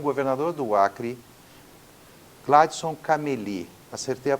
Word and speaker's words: Gladson Cameli: em Rio Branco com o governador do Acre Gladson cameli acertei a pronúncia Governador obrigado por nos receber Eu que